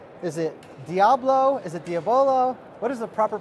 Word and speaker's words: Diabolo: do you say is it Diablo is it Diavolo what is the proper pronunciation yeah Diablo yes I'm just a geek meiotic same Diablo